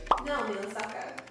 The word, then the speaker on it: Naomi Osaka: Naomi Osaka. She speaks Japanese. Alright, so we definitely want to keep everybody's name pronounced correctly here.